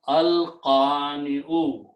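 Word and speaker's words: القانع: So when you put al before that, okay, so al and al will remove one dhamma, and when you pronounce, it will become al-qani'u.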